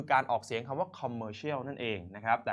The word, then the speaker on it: commercial: commercial นะ ครับ แต่ ใน สมัย ก่อน เนี่ย ออก เสียง คำ ว่า commercial ไม่ ได้ commercial คือ อะไร นะ ครับ ไม่ เข้า ใจ นะ ครับ คน ไทย ก็ เลย ต้อง ออก เสียง โดย การ ออก เสียง แบบ ไทย ๆ นะ ครับ หรือ การ ลาก ข้อ ความ ก็ คือ เป็น แบงค์ สยาม กรรม มา จน คำ ว่า กรรม มา